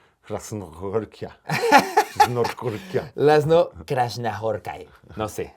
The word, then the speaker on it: László Krasznahorkai: Krasnahorkia. Krasnahorkia. Laszlo Krasnahorkai. No sé. A ver. Este es el audio de cómo se pronuncia en realidad. László Krasznahorkai. László Krasznahorkai. Laszlo Krasnahorkai. Tiene que ser con esa cadencia.